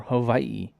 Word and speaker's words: Hawaii: We have the Easy Post Hawaii Bowl, or Hawaii, if you want to say it correctly.